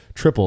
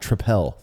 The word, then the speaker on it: Tripel: another Belgian trais style is pronounced triple not tripel so uh you know